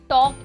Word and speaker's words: talk: Talk एक ऐसा word है, हम talk बोलते हैं. ठीक है. तो L हमारा जो होता है इसमें silent होता है.